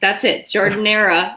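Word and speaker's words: giardiniera: Jardinera, not to be confused with giardia, which is a totally different thing. Jardineria. Jardinera is how you say it.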